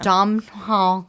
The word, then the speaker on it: Domhnall: cute is it Donald Donald Donald Donald Glandon domhnall gleeson not Donald Glover no it's the tall